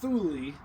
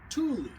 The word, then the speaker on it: Thule: it off of Amazon it's not thuli everybody says thuli it's actually Tuli uh Sweden I don't know what thuli or Tuli means but uh it is properly pronounced Tuli and I did open